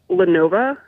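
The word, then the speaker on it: Lenovo: I think it's pronounced Lenova.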